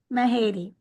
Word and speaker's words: Mahady: I'm going to say her last name wrong, so I'm going to let you say that. It's Mahate. Mahadi? Mahadi.